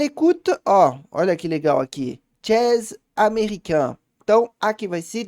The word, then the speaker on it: jazz: Eu confundi com a pronúncia em português, ó. Não é uma palavra nem em português, nem em francês. Então, deu nó na cabeça, mas é jazz, som de A.